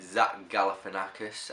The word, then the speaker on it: Zach Galifianakis: So in 3rd spot, I always get his name wrong. I always call him Jeff, and it's Zach. It's the Zach Galifianakis, and all those other guys.